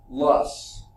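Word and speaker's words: loess: It's pronounced lus. Wasn't there a company that made, I think mostly women type products, really nice stuff, smelled good and all that kind of stuff. It was called Lus, L-U-S-S. It's pronounced the same way as that.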